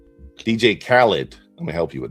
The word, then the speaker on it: Khaled: So, Khalid? DJ Khaled.